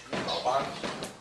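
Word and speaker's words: 老板: You don't pronounce the N. No? You say Ban. No, no, you say the N. Ban. Lao Ban. Okay. You hear the N? Yeah, Lao Ban.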